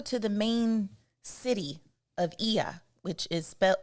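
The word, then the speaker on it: Oia: the main city of IIA which is spel it don't sound like how it's spelled it's o i a and that's called IIA and that's the main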